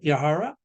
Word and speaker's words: Yahara: and I believe, how do you pronounce it? Yahara? Yeah, you have it right.